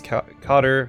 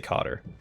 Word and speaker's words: cadre: Despite the unwilling induction, your education and savvy made you a valuable addition to the Archon's cadre or cadre. I heard it pronounced both ways. I usually say cadre.